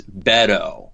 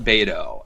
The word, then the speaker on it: Beto: I've been told I've been scolded that we're pronouncing it Rod's Beto okay but not bado and I've been calling him bado but I've